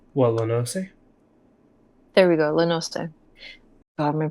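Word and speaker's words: La Noscea: of the local tribes in how do you pronounce it again? La Nosnia or something? Remind me again how you pronounce that overall Lano, region. what Lanose? There we go, Lenoste.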